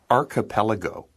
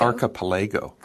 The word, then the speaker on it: archipelago: Okay, so we say archipelago. Well, that's what I said. I thought you said archipelago.